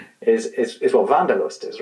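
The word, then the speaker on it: Wanderlust: English and that's uh people in English might pronounce it wonderlust but wonderust. Vanderust the need to sort of get out there is is is what vandalust is right.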